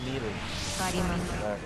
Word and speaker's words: Melee: Pronounced Melee.